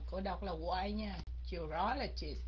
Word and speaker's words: urologist: đọc là Why nha urologist Nhấn cái âm thứ hai phải không các anh chị urologist Ok